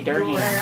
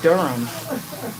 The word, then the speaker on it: Durham: I used to say Durham. Yeah, cuz that's how it's spelled. Durham. So that's what I had been saying until somebody was like, Tanya, it's Durham.